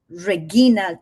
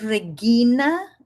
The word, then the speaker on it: Regina: Entonces yo es Reguina. Exacto. O Regina. Exactamente. Tal cual. Y la escuchaba tanto que hasta ya me empezaba a gustar la pronunciación reguina, que es la clásica, ¿okay?